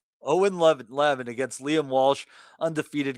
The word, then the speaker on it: Eoghan: That is Owen, believe it or not. Owen. Well, we weren't right. Justin was closest. He thought it could be Ian. Yeah, Owen. That one is in Gaelic. Owen Levin against Liam Walsh, undefeated guys.